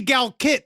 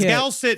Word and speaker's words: GALCIT: Gal is C. It's a hard C. I know, but Gal kit is a soft C. Gal Yeah, cuz Gal sit sounds like you're patting